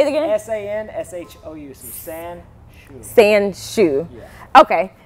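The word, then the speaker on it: Sanshou: is a sport called Sanshu. Spell it for them. Spell it. S-A-N-S-H-O-U. And it's actually pronounced Sansho.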